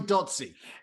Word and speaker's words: Dotsie: let's start first of all what's your name datsy okay how are you dotsy oh good i like the way you say